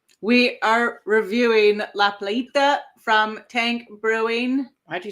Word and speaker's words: La Playita: We are reviewing La Plita from Tank Brewing.